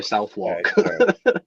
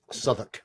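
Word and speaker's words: Southwark: UK if it was anywhere else I'd say southwalk yeah it's pronounced s I understand yeah yeah suoc it's a place in London okay well they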